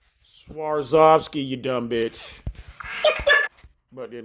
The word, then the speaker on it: Swarovski: The word is pronounced Swarovski crystal, you dumb bitch. It's Swarovski. Swarovski, you dumb bitch.